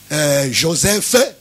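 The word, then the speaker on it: Josèphe: le plus connu juif, Joseph, je les prononce comme ça parce qu'il y a E à la fin, qui a écrit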